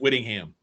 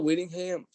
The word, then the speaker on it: Whittingham: good you know uh Kyle Willingham uh uh Whittingham Winningham Winningham yeah I mispronounced that Kyle Whittingham has got to be